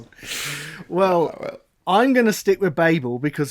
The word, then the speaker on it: Babel: listeners is it yeah is it babel right our american listeners know it as babble right yeah yeah babel or babble um and you know